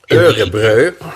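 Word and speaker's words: Umeå: event which was taking place in Sweden in umu thank you I was going to say in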